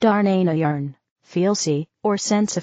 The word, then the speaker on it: Dharnahn: Place the frequency of the sacred sound, Dharnahn, pronounced Darnayarn.